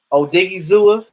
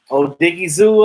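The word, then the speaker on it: Odighizuwa: pass rusher when that when i'm telling you oh diggy zoo i said it right yes oh diggy zoo and and and big bohanna up in the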